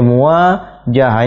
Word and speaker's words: muwajahah: Ya, bacanya muwajahah.